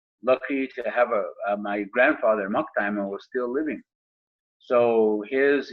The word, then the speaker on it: Maktima: So Maktima is the pronunciation for it.